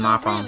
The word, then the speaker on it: Nopon: It's pronounced so Nopon.